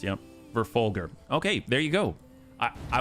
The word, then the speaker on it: Verfolger: G spoken as in gun.